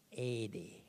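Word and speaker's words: ἤδη: Ede. Tulisannya ede. Tapi cara bacanya harus cara baca Batak. Ede. Ya, bahasa Yunani itu logat Batak cocok.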